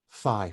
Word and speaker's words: phi: how we spell them phi for instance p h i we pronounce this nowadays as f like in your father but originally it was